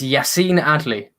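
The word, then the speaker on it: Yacine Adli: alex sorry how did you how did you pronounce that name uh it's yacine adley yassy nady yes so yes rather than the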